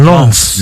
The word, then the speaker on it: Lens: Lask at home, and Len How is that pronounced? Lens.